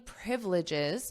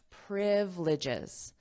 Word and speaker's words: privileges: Trump said the card will give buyers the same privileges. Notice the pronunciation here, privileges. So we have the syllable stress on the first syllable.